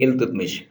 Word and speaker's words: इल्तुतमिश: इसका जवाब है शमसुद्दीन इल्तुतमिश इसको इलत मश भी प्रोनाउंस किया जाता है शमसुद्दीन इल्तुतमिश या शमसुद्दीन